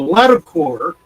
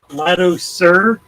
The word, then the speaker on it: Latticer: Latticer. Latticer. Ah, it's not French. Well, core would be C-O-U-R or C-O-E-U or something. Latticer. C-E-R.